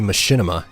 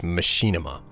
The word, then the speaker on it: Machinima: why do you say Machinima as Machinima okay I don't know how many of you are aware of this but Machinima is actually the improper pronunciation that being said it's